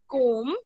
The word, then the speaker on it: comb: Okay, B is silent when we speak comb.